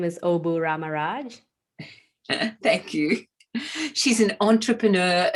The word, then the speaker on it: Obu Ramaraj: thanks for having me here my name is obu ramaraj thank you she's an entrepreneur an author a